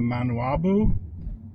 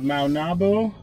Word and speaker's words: Maunabo: okay well that concludes our tour of the manual did i say it right not novel okay that concludes our tour of maunabo um beaches lighthouse restaurant this is a cool